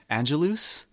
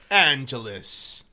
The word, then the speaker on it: Angelus: It's basically like Los Angeles, not Angelus. Angelus.